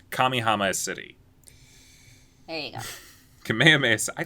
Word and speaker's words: Kamihama: it i keep saying it wrong every time kamihama kamihama city hey kamehameha i like kamehameha city better